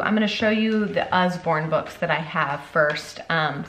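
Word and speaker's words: Usborne: some amazing sorry Osborne I always say it like what like with a Z it's not it's just I'm a dingleberry and that's how I pronounce things sometimes wrong so um it's us-born but when I say it it sounds like Osborne like Ozzy anyways so the US foreign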